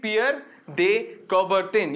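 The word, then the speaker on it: Pierre de Coubertin: name his name is pierre de cobarton i will write his name i'll spell it out it's peer they cover thin okay his name is pierre dey coverton you will see the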